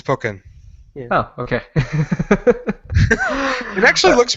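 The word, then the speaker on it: Pokkén: oh yeah poken tournament poken however you pronounce it here it goes uhuh it's poken oh okay it actually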